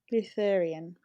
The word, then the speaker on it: Lutheran: Augusta was incredibly religious, and Gein followed a strict Um, Lutheran yeah. ideology. I think that's how you pronounce it, like a Yeah.